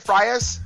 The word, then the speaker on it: Frias: uh Frias is that how you say it Frias Frias yep Frias fires is 2- 0 this